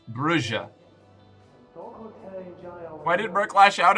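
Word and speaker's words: Brujah: Um, actually, it's pronounced Bruja. You're activating my OCD for language though. It's No, it's lit. No. Katana. Katana. Katana. Don't do this to me. I pronounced it bruha initially. I pronounced it both Brua and or uh uh Bruya and Bruha. But it turns out canonically in the setting it is pronounced Brua.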